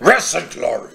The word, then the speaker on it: Wrath and Glory: Rest and glory. Yeah, that's how you pronounce it.